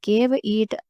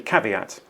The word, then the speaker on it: caveat: but there was a cave eat regarding timing you can see why she might have wanted to say caveat but it is actually caveat which I think is the Latin word for beware number 12 understanding gios